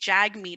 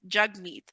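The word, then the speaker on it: Jagmeet: you know and even a lot of people say jag meat it's jug meat so it's really kind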